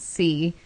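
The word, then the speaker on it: Cee: The city's called C. C-E-E. That's how you spell it. Yeah, so it's C, which is by the sea.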